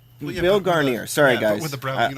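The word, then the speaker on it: Guarnere: It rhymes with gonorrhea. Garnier.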